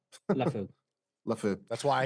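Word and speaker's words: Liufau: Just to add to the linebacker pick, if there's one thing about how do you pronounce his name? LaFou.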